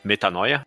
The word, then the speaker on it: Metanoia: GP Metanoia, essa é a pronúncia.